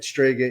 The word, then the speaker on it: Strega: what does it mean some people can't even pronounce so I just want to yell for the record say that stga is Italian for witch and that's why it's stga Moon Productions obviously we're ital so then why